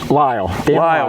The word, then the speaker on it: Lyall: Lyall.